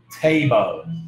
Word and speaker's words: table: thì nó sẽ là ví dụ table nhá, table thì đây là cách đọc và đúng cách phải âm thở trong tiếng Anh. Nhớ mình thổi không khí ra khi mà mình nói.